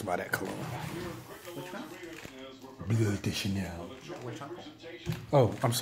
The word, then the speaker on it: Bleu: It's not called blue, it's called bleu. Bleu de Chanel. Because it's not spelled like blue. It's not B-L-U-E. No, it's B-L-E-U. So it's bleu.